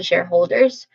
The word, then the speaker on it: shareholder: Then say whole. Whole, this part is the secondary stress. It sounds like they let the word HOLE. Whole. And finally say der. Der. There's a schwa sound, I think. Yeah. There's a schwa sound here, very quick and stressed syllable.